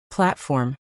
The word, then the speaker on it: platform: Platform is slash plate.frm slash, stress on the first syllable, and make sure that T is clear.